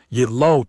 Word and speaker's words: Yillo: Yillo, two syllables, easy."